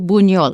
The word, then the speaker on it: Buñol: It's just like an NY. So if you wrote it BUNYOL, buñol, it would come out right.